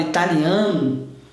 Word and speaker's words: Italian: Agora, quando eu penso na palavra italiano, a tônica já está na segunda sílaba, está na sílaba do T. Então, nesse caso aqui, passa a ser Italian, por causa da tônica, perceberam?